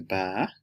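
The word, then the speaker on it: 把: For instance this tone ba is eight and this is ba means to pull up. This is ba to handle and this is ba which is dad.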